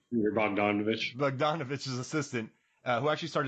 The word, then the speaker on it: Bogdanovich: Bogdanovich.